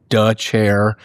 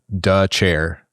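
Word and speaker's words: Dethier: It is pronounced duh chair.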